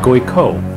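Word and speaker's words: Guycot: a Graco pistol g-u-y-c-o-t waiting we've been pronouncing guy caught wrong this entire time a goiko pistol guy pistol what other pronunciation I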